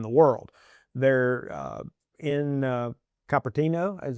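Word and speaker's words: Cupertino: They're uh in Capertino is how you pronounce it.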